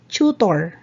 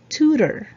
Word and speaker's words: tutor: right number 15 a lot of people say chutor i need a chutor right the correct pronunciation is tutor tutor twitter all right let's move on number